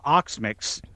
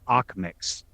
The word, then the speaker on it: Okmyx: no, Although there is one of the characters in the show, Bella Oxmix. His name is spelled OKMYX. I want to say Oxmix, but it's Ox. Oxmix.